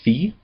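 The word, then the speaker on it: φῖ: Uh the first one is fe and it is usually translated ph but it sounds like f as in phone.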